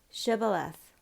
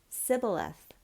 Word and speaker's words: shibboleth: they said to him now say shibboleth and he said sibileth for he couldn't manage to pronounce it correctly Then They seized him